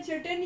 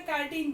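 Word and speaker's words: chitin: उसके बाद फंगाई या फिर इसको फंजी भी बोला जाता है, इनके अंदर चिटिन या फिर इसका प्रोनाउंसिएशन कहीं कहीं प्लेस पे कैटिन बोला जाता है, ठीक है।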